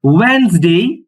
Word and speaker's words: Wednesday: Sunday, Monday, Tuesday, Wednesday, কিন্তু hidden থাকবে, কিন্তু উচ্চারণ হবে না স্যার। তো কি হবে ওয়েডনেসডে, ওয়েডনেসডে, Thursday, Thursday, Friday.